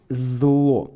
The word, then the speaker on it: LZO: А читается как зло.